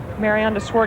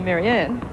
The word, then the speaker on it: Mariaan: I'll probably point out we pronounce DW's Christian name Maran in Australia we'd say Maryanne but it is pronounced Maran 15 well that's a